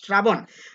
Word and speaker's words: শ্রাবণ: সব মিলিয়ে শ্রাবণ শব্দটার উচ্চারণ হয়েছে আমাদের শ্রা, মধ্যবর্ণের অ হয়ে গেছে ও, যেখানে ধাক্কা সেখানে হস শ্রাবণ।